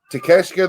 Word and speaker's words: Takeshita: Takeshita the real deal?